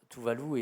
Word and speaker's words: Tuvalu: que vous avez intitulé Tuvalu, ça se prononce comme ça? Oui, oui, ou Tuvalu, selon la prononciation. Alors, Tuvalu est effectivement, à nouveau,